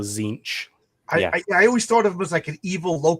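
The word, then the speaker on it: Tzeentch: do you say you can just ignore the te of a Z. So zinch.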